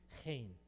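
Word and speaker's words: חן: 여기 독일 발음입니다. ch 발음이 hein.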